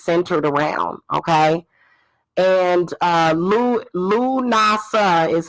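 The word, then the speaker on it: Lughnasadh: the holiday is centered around okay and uh lu nasa is how you pronounce lanasa l-u-g-h-n-a-s-a-d-h okay so le is old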